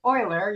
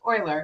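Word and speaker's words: Euler: And it's spelled weird and pronounced Oiler. You know, it starts with an eu, but it's pronounced Oiler. Oiler.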